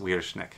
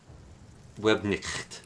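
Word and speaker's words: Webknecht: Okay, it's actually not even pronounced weirdish neck. I just want to call it. It's a web-nicked. Web? Webnicht, yes. But Weirdeschnecht is what I've called them for like 3 years now.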